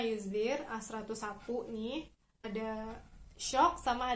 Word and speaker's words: A101: Jadi di Turki ini ada supermarket namanya ada A101, bacanya Ayuzdir, A101 nih, ada Shock sama ada Bim.